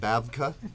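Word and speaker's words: BAVC: But anyway, you will in the coming weeks be seeing some of those because the people here at Bavac, how do you say it, Bavka, B-A-V-C, Bavka, are excited about being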